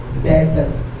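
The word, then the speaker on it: debtor: डेटर। ई क्या होता है? साइलेंट।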